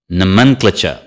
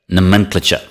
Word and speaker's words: nomenclature: nein nein Naaman cloture nomenclature nah meant Fletcher nomenclature it's just the second syllable repeat after me nomenclature